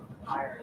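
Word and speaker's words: Tyr: And that's not like tire is pipe. That's the brand tire. That's how they pronounce it. It's not air, it's tire.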